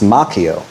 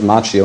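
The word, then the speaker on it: Macchio: Danielson, uh, played by Ralph Machio, which is actually the Italian way pronounced Makio, but I believe he pronounces it Machio, and I'll respect his decision.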